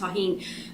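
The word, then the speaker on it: Tajín: it correctly but anyway you saw me spell it t-a-j-i-n but it's pronounced tahin um it's really good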